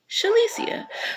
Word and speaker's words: Shalicia: Alicia Alicia um but I'm gonna put a sh in front of it so that's how I came up with shalicia so for those who